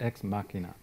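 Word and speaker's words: Ex Machina: and I'll have probably Dan correct me is exm Mia is that how you pronounce it exmachina yeah so how many people have seen that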